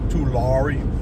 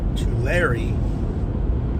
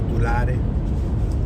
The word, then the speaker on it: Tulare: I live in Tulare County. Think of like two and then Larry.